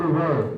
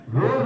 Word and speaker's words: were: वर यानी WERE, उसको वर बोलते हैं, वेयर नहीं बोलते हैं। आप लोगों ने अभी तक वेयर पढ़ा होगा, तो वेयर नहीं बोलना। वेयर जो है वो गलत प्रोनाउंसिएशन है, ठीक है, समझना नहीं मेरी बात। वेयर जो है वो गलत प्रोनाउंसिएशन है, तो वेयर नहीं पढ़ना है, उसको वर पढ़ते हैं।